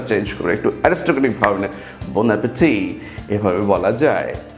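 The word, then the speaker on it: bon appétit: তেমনি একটি ফ্রেজ হচ্ছে bon appetit.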